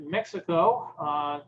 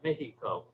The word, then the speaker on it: Mexico: The other was to remind people that although it's silent in the word that it's pronounced, there is a X in Mexico.